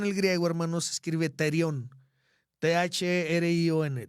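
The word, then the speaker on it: θηρίον: Bueno, la palabra bestia en el griego, hermanos, se escribe terión. T-H-R-I-O-N, terión.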